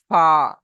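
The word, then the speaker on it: ف: তাহলে ফার মাখরাজ হলো ফা। আপনি যখন সঠিকভাবে উচ্চারণ করতে পারবেন, আপনি মনে না থাকলেও যদি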